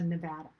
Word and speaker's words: Nevada: I do know how to pronounce it, but I grew up calling it something different. So Nevada.